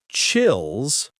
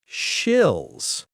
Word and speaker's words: chills: Pronounce it like chills, not shills.